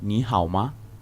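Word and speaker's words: 你好吗: You say ni hao ma.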